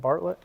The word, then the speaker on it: Bartlett: Is that how you pronounce that? Bartlett?